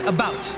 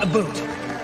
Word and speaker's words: about: speak English and French not American and I pronounce it about not a boot I can proudly sew my country's flag and